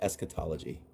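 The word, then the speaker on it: eschatology: I could not have I could not have pronounced it better. Esquetology. It's esquetology.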